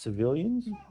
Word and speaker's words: CVLNS: It's pronounced civilians.